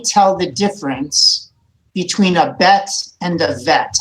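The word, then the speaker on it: בית: Let's take a look at the letter bet. This makes the B sound like boy.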